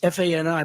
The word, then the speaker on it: Fani: But think of it, Fani, it's F-A-N-I, but they pronounce it Fani. How do you, if you had the name F-A-N-I, it's called Fanny, right? How do you get Fani?